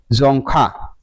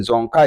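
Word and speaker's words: Dzongkha: Language है, यह है जोंखा। ये प्रोनाउंसिएशन कुछ इस तरीके से करेंगे। डी से लिखा हुआ है लेकिन जोंग का इसका प्रोनाउंसिएशन होगा।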